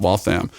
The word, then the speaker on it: Waltham: And I'm like, it's pronounced Waltham.